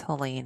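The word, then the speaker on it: Helaine: share a name um my middle name is helain and we pronounce her name the same way so that was enjoyable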